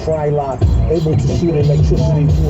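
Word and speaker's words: Frylock: It's fry lock.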